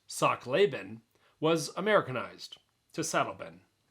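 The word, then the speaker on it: Sachtleben: Frank lent he was German his name originally pronounced Sak laben was Americanized to slein slein had been a cycling Globe Trotter as well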